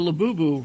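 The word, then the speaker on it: Labubu: You know, Laboo rhymes with pazuzu, which is a demon.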